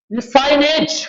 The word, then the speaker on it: Lassaigne: उसके बाद हाँ जी, वेरी इंपॉर्टेंट, लिसाइनेज टेस्ट, इसको LASSAIGNE जी साइलेंट, लिसाइन, लिसाइन टेस्ट कहते हैं इसको।